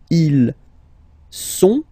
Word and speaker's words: ils sont: Okay, ils sont, final T not pronounced.